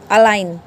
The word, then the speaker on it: align: जैसे ये ALIGN अलाइन, अलाइन में क्या है, इसमें एन क्या है, लास्ट में है, लास्ट से पहले क्या आ गया जी, तो इसका मतलब जी को हम नेग्लेक्ट कर देंगे।